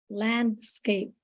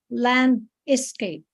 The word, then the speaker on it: landscape: you say you said land Escape so landcape there are only two syllables how how how you pronounced it there were three because you said land is Cape so is there is not needed you just say lands